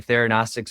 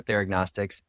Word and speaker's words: Theranostics: Yeah, it's actually both. And I think you have different kind of cohorts of people that like to pronounce it in certain ways, but either way, Theranostics or Theragnostics.